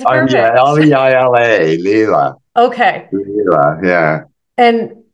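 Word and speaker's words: Leila: L-E-I-L-A, Leela.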